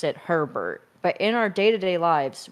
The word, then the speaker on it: Herbert: You know what is interesting is that his name is Herbert, and we very much pronounce it Herbert.